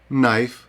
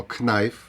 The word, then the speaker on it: knife: N також не вимовляється Подивіться No ми не вимовляємо know Nok ми не кажемо кнок Knife но ми не кажемо Knife Night і нолич так само не вимовляється буква